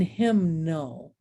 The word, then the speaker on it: hymnal: But look what happens when we get signature, bombardment, and hymnal. Okay, and now all of a sudden I hear that silent letter.